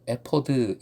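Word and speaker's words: אֵפוֹד: 만드는 방법이 기록된 부분입니다 에버 원어 발음 은 에 포드 인데 본래 옷을 의미한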